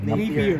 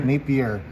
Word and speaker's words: Napier: Nikola Vucevic, Donovan Mitchell, Josh Richardson, Shabazz na, parang pronounce yan? Napier. Napier.